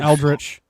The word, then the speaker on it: eldritch: It's pronounced Eldritch, by the way.